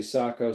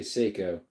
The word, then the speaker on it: Seiko: Some people say Sako, some say Seyiko. Yep. Seyo though, I would say is the watch.